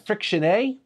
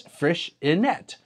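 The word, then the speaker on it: Freixenet: I've been pronouncing it friction a because that's what I thought it was but I checked the Catalan pronunciation via Google or between a Google translate and it's fresh inette anyway uh and that's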